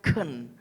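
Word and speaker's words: חן: Dipakai sebagai terjemahan bahasa Ibrani, namanya gen. Tulisannya HEN, bacanya gen.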